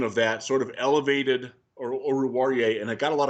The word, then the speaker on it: Oruwariye: Wait, how do you pronounce it? Oruwariye? Amani Oruwariye.